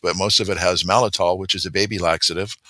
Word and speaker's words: maltitol: It's pronounced maltitol.